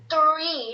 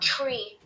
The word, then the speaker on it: three: But when you're pronouncing three, pronounce it three, not tree.